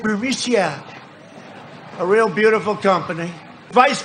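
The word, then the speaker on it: Burisma: this uh bureaucia bermucia they say pronounce it burmesia a real beautiful company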